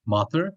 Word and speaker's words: Mathur: do you say your last name it's mother m-a-t-h-u-r it's like oh almost yeah welcome thanks